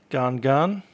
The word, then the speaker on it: Gan Gan: airplane hope you enjoy the little township of darn gun that's how I heard it pronounced on a video that I was watching and that was someone who lived here so I'm assuming they're saying it correctly garden guard GaN I